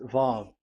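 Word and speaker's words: וו: So it's V as in Vogue. So it's really V. How to read Vogue? So the word, the shape Vav is really pronounced V, like Vogue. That is it, pronunciation. So here in this side, it's pronunciation. This is pronunciation. So according to the old Hebrew word today, those who the owner of the words, I mean, so it's a V. So don't change it into W, and you will say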